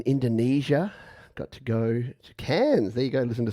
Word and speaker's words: Cairns: Cairns. But we don't pronounce the R because we don't pronounce the R in much.